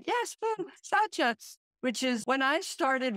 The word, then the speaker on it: Saucha: Saucha, which is when I started reading about saucha, which is purity, cleanliness, and clearness.